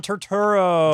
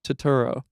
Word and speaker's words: Turturro: Oh, is it John Yeah, John Turturro.